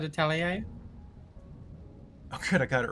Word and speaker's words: atelier: makes Like an the prettiest honest to God atelier? What? Kelly? Like an honest to God atelier? Oh yeah. Yeah. Atelier? I've only ever seen the word written down. Yeah. Oh, absolutely. A tiller? I've always said atelier.